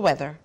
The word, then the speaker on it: weather: Whether the weather. احنا عندنا هنا طبعا في كلمتين بيتنطقوا نفس النطق لكن السبيلنج بتاعهم ومعناهم مختلف.